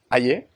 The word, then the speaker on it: Aye: How do you pronounce Calvin's last name? Aye.